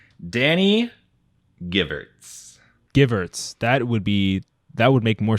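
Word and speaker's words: Gevirtz: So if you embarrassed yourself by saying his name wrong, then I'll make sure that I embarrass myself as well. It's Danny Givertz.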